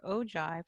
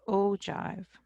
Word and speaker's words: ogive: Okay, now if I do a little sketch for the ogive, I'm going to put that right here.